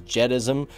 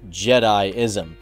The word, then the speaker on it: Jediism: minute leroy you're pronouncing jedism or jediism as jedism it's pronounced jediism now i actually called him up and he